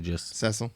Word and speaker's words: Cecil: I think we pronounced it Cecile, I think, the first time, but I think it's actually just Cecil.